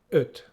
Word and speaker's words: öt: And our word for today is öt.